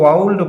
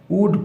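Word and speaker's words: would: यहाँ भी देखो एल साइलेंट लेटर है बच्चों। ठीक है, तो कई बच्चे इसको वाउल्ड पढ़ते हैं, वाउल्ड नहीं लिखा है, वुड पढ़ना है।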